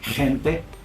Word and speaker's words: gente: Now, if the G is followed by an I or an E, then the G would actually sound like an H for us English speakers. But I have a hard time with that as a non-native speaker, because when they say the GE or the GI, it has sort of like a, like some friction in the throat, like gente.